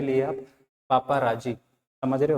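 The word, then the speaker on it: paparazzi: याद करने के लिए आप पापाराजी, समझ रहे हो? याद करने के लिए आप इसे पापाराजी बोल सकते हो, ठीक है। बाकी इसका सही जो होता है प्रोनाउंसिएशन वो होता है सर पेपरेटस।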